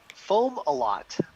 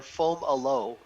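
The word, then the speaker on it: Fomalhaut: did i did we did how do you pronounce that star that's foam a lot or foam aloe is the secondary pronunciation omelette and fomolo perfect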